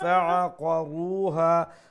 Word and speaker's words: فَعَقَرُوهَا: So, ayn from middle of the throat and then qaf, make sure you pronounce it with a full sound, okay? It's a full mouth letter, the dotted qaf, okay? That's a heavy letter qaf.